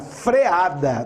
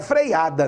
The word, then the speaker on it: freada: Acabou o fluido, que é o líquido usado lá na frenagem, na freada. Não é freada, não, é freada.